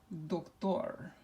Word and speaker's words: doctor: So now which syllable gets the emphasis? Well, what does it end with? It doesn't end with an N, it doesn't end with an S, it doesn't end with a vowel. So we have to go with the last syllable. And so the way we pronounce this is doctor.